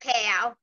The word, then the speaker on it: Pow: Our last names are pronounced Pow. Oh, is it Pow? Sorry. Yeah. Everybody says Pow. Sorry. I've been saying poor this whole time, those poor girls.